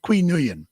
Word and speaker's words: Qui Nguyen: Ki Nguyen, is that how Qui you pronounce it? Nguyen. Qui. Pardon? Qui Qui Nguyen. Qui Nguyen.